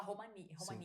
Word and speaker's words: Romania: Mas é Filipina, Marrocos, tem da Romênia, aqui se fala Romania, Sim, né? Romania.